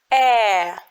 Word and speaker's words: э: okay then next goes eh it's a very wide sound wide you have to open your mouth ah like when you're thinking you know uh back it